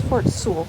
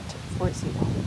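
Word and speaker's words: Fort Sewall: situation again you guys that's pronounce Fort Su not Fort Z so here we go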